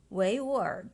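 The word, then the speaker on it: 维吾尔: In Mandarin, Uyghur is pronounced as Weiwur Zhu or Uyghur ethnic group.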